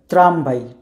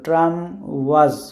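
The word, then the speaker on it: tramwaj: আমরা ইংরেজিতে পড়লে কী হইতো, ট্রাম ওয়াজ, কিন্তু এটা পোলিশ হচ্ছে ট্রামভাই। ডাব্লিউ কে ওরা ভি উচ্চারণ করে এবং জেডটা আমরা আগেই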